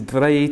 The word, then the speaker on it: Bragi: Okay, and of course it looks like Bragi because it's B-R-A-G-I. Yeah. Just how you say it.